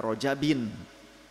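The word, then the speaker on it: رَجَبٍ: antara Rajab dan Ramadan bacanya Baina rajabin ya ada memang yang mengatakan Rajab itu Isim ghair munsorif padahal Rajab itu munsorifun masrufun ya jadi Isim munsarif Rajab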